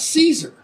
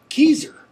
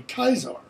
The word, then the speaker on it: Caesar: it's the celtics always it's not cicero it's kicaro it's not caesar it's keyser it's actually kaisar as in german the kaiser it's almost the exact